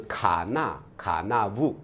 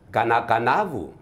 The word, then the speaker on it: Kanakanavu: 的书写是卡纳卡纳武，是，但我们真正的我们的发音是。噶那噶那武，噶那噶